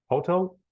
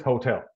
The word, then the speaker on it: hotel: So if you say hotel, it sounds like hostel, and a hostel is not a nice, especially a nice place. So the word is hotel. So hotel. The emphasis is in tel here, hotel.